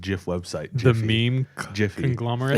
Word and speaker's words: GIF: meme Jiffy. conglomerate. It's a Yeah. Jif GIF and they collab. put a G on it because it's supposed to be pronounced Jif. So next, Would you say GIF Raff, or what's your argument?